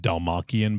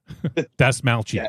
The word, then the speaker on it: Dastmalchian: Yeah, I think in the past I've said Dalmachian, but I think it's Dastalmachian. Dastmalchian.